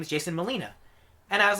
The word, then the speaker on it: Molina: says his name is Jason Molina and I was like why did I ever think it wasn't pronounced Molina? It's spelled just like Alfred Molina.